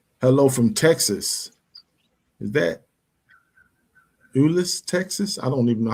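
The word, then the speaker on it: Euless: That's the That's how you pronounce that city. Ulis, Texas.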